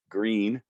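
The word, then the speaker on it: Gruene: new braunfels green which is a german word it's spelled g-r-u-e-n-e green texas very popular place wimberley texas very popular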